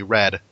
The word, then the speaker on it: read: Actually, Red. Stupid, spelled the same way, pronounced different ways, things.